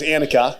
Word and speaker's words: Anicka: with her name all all day it was annika and she she didn't even like correct me but when she would pronounce it i would get it annika newell